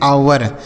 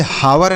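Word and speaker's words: hour: आगे लिखा है एच ओ यू आर इसे पढ़ते हैं आवर। इसे हावर नहीं पढ़ेंगे बच्चों। यहां पे जो एच लिखा है ना ये साइलेंट है। इसको नहीं पढ़ा जाएगा।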